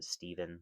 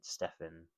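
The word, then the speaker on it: Stephen: So now I know that that's how you actually pronounce his name. I kept calling him Steven, but Stefan Carpenter.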